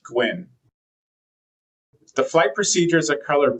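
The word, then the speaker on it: GYWN: For example, the GY WN wayoint would be pronounced Gwyn.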